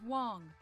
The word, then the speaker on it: Wang: be lost negative Evelyn Wang my navigation systems are operating as intended it's pronounced Wong and your systems are